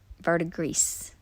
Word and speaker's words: verdigris: Yeah, the blue one is the one that does the like verdigris. I looked that word up, how to pronounce it.